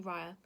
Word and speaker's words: Raya: It's actually Raya.